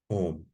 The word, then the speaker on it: Om: It comprises 3 sounds, A, U, and M, Om.